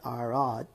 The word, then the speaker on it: Arad: En el hebreo, Arad, que se pronuncia Arad, Arad, más o menos, ¿verdad?